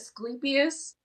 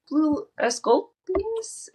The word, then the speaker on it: Asclepius: Vitellius, he got claimed I always say his name wrong, and I figured this out while reading this because I was like, wait, why is there a U in there? I always said it as Asclepius, but it's uh Asclepius?